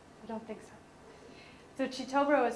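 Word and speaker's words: Kitobero: don't think so so chobo is spelled it's k i t o b e r o is it k i in luganda Chi that's why it's spell Cho and then W mu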